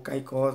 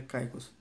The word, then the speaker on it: Caicos: britânicas de truques e caicos né ou caicó consigo chamar mas é o nome certo seria pronuncia caicos a as ilhas virgens